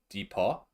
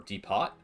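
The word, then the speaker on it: dépôt: Depot warehouse so uh Depot is French for deposit if you put an accent on the o it's Depot or deot so yeah if you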